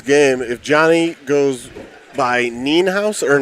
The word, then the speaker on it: Nienhaus: if Johnny goes by Nienhaus or Ninehouse. If you pronounce it in the German, you say the second of the two vowels, so it'd be E or I.